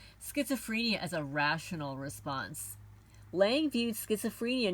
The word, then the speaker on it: Laing: contributions of Rd Lang Lang is spelled l a i n g for anybody that wants to look him up R D Lang number